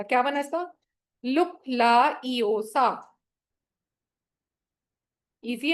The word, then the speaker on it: LUKLAEEOFA: इसको अपने बोलना कैसे? आप इसको बोलेंगे लुक ला ए ओ सा, ठीक है, ये इसका प्रोनाउंसिएशन बनेगा। क्या बना इसका? लुक ला ईओ सा।